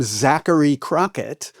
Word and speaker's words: Zachary Crockett: And I noticed that your full name, Zachary Crockett, contains 3 K sounds, each of which is spelled differently, right? There's the CH in Zachary. There's the C at the beginning of Crockett, and there's the CK in the middle of Crockett.